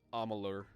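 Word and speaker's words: Amalur: I believe that's pronounced Amular. Amular. Look at the U's. Look at the U and the A.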